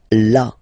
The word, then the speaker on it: là: So remember, you've got this accent, but well, you don't pronounce it, okay, so it's la, la.